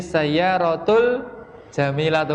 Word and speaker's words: al-jamilatu: Kalau bisa bacanya jangan al-al nggih. Tadi kan masih banyak yang bacanya itu dipisah-pisahin loh. Liman hadhihi sayyaratu al-jamilatu kan gitu. Coba dibaca nyambung. Liman hadhihi sayyaratul jamilatu. Lebih enak didengar, ya kan?